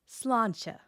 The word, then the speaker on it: sláinte: The slán part has a fada, which lengthens that vowel. The end has a slender consonant cluster. Put it together and you get sláinte.